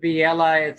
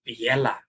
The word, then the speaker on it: Villela: So my Italian friends that help me out with strings and stuff, they're going, Villela. I like that. Villela, because it sounds a little Italian, Yeah.